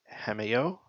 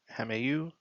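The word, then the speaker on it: hameau: He inspired Queen Marie Antuinette to transform a remote corner of the park of Versailles into a peasant village or hameo. Hameu spell it.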